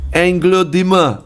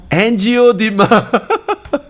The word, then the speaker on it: angioedema: So you're looking at the name called KVD 900 for on-demand hereditary angioedema.